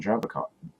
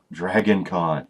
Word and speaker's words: Dragon Con: But like say, if you walk into, say, Sci-Fi Summer and you're expecting DragCon. I said DragCon. Dragon Con. Here I go. I got it out finally. Not everything's 2 syllables.